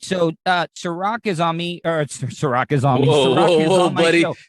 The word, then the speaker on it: Serak: type my name in which is sorak it's s-e-r-a-k yes i know unfortunately not spelled like the liquor but i promise you that tastes just as good um yeah just type